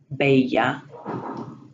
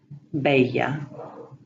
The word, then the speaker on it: bella: However, the double L is pronounced like a Y. Hallar, bella. Otra vez, hallar, bella.